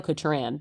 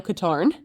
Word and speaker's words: Katarn: I always pronounced it Kyle Kataran, but it's I think it's Kyle Katarn.